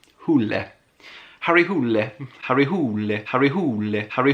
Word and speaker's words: Hole: where I learnt that it's not pronounced Hole. Does he say here how it's pronounced? I'm not gonna try. Oh yeah, Hule.